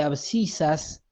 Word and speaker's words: abscisas: Después, ahí en el título dice sistema de abscisas. Recuerden, por si no lo sabían, o si se lo olvidaron, o nunca lo habían escuchado, que las abscisas, así se escribe y se pronuncia, es el eje de las X.